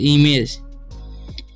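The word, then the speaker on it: image: ठीक है, उसी तरीके से आई क्या हो जाएगा ई, एम का हो जाएगा म, और ए का उच्चारण ए हो जाएगा ई में, और जी का ज तो इमेज।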